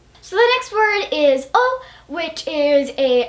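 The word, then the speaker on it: を: the next word is O which is a actually spelled wo in Japanese but it's pronounced o which can get pretty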